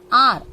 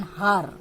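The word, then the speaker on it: hour: An R, we don't say an har, isn't it? So pronunciation of H is silent here.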